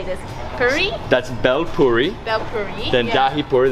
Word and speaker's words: bel puri: I can't even pronounce it. So how do you say this? Puri? That's bel puri.